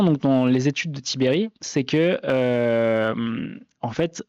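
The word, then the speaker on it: Tiberj: et Vincent Tibere al çaécrit Tiberge mais ça se prononce tibée qui est donc chercheur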